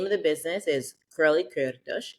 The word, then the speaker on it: Kurly Kürtősh: so it's Kurly Kürtősh. Oh, I love it. We have to roll the R's, and we don't phonetically do that in the U.S., so it just becomes a challenge.